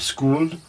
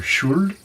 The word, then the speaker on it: Skuld: And finally, the third is named Skuld, or Skuld, depending on different various pronunciations.